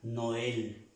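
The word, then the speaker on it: Noël: Se pronuncia Noel normalmente. Esta letra se pronuncia también como la E en el español, como la E para nosotros en el español.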